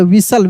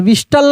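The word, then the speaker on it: whistle: Word repeat है कैसल विस्टल को विसल हम लोग पढ़ेंगे टी साइलेंट रहेगा लिखा है विस्टल लेकिन पढ़ेंगे विसल क्योंकि टी साइलेंट रहेगा।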